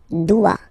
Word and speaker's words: dois: Je dois. Okay, remember, final S is not pronounced. Je dois. O, E, when you combine the two, you get the sound wa, wa, wa.